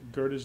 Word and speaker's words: Goethe: And this says six and three, six, five, yep, Philip Melanchthon, his name is pronounced, with Goethe, and there's Goethe's name.